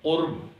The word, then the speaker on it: قرب: لکھا جاتا ہے اور اس کا تلفظ ہے قرب، یعنی قاف پر پیش ہے اور رے پر جزم ہے، تو قرب کا معنی